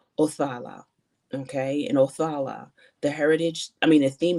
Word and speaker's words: Othala: Okay, so it says the pronunciation of this card is Othala.